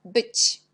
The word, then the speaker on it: być: On a C avec l'accent, on prononce ti. Et c'est le mot być.